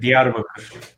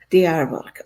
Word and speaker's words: Diyarbakır: Can you pronounce this for me, Sidar? Because I don't want to ruin it. Diyarbakır. Diyarbakır.